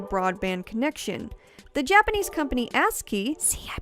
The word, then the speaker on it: ASCII: The Japanese company ASCII, see, I pronounced it correctly this time, guys, even created this really cool GameCube controller keyboard.